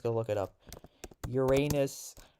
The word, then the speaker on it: Uranus: Uranus pronunciation.